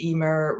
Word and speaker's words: Eimear: yes as I say my name is Emmer rhymes with beamer dreamer lemur I've been called many